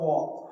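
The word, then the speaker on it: walk: वॉक। क्या लिखा हुआ है? वॉक। देखो डब्ल्यू ए एल के लिखना स्पेलिंग यही है।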